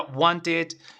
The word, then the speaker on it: wanted: pensando, hey, a ver, want es termina en T, entonces yo le agrego, va a ser ID, entonces la pronunciación sería wanted, ¿me entiendes?